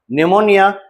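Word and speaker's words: pneumoniae: एन ए E Numa निमोनी ठीक है। निमोना का स्पेलिंग पी से शुरू होता है। पी साइलेंट रहता है। पी एन ई यू एम ओ एन ए निमोनी।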